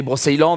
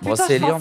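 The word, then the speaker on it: Brocéliande: juillet, c'était la série Brosse Island avec Nolwenn Leroy. Donc, ça, c'était vraiment cool. Tu sais, t'arrives toujours pas à prononcer le nom de cette putain de forêt. Brosse Island. Brosséliande.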